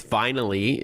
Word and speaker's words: Vinylee: It's Vinylee. If those who are not driving want to jot this down, it's v i n y double l y. So, like vinyl with an extra l y at the end.